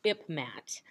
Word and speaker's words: IPMAT: going to talk about an acronym pronounced ipmat and of course that's not a real word it's an acronym that's